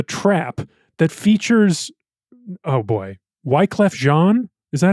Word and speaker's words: Wyclef Jean: And he produced a music video for his campaign with a song called The Trap that features, oh boy, Wyclef Jean?